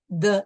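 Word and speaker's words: des: De le, which is the contraction is de. D-E-S, de. Don't pronounce the S.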